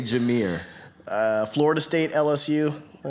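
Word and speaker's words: Jahmyr: jameer jamir that okay i'm gonna spell this and i can you'll probably say i know what racy is but j-a-h-m-y-r what's his name y'all what's his name is the pronunciation of that homie's name in the comments section i say jamir uh florida state lsu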